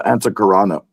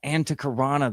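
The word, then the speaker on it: Antahkarana: Oh, the Antakarana. The Antakarana, that's right.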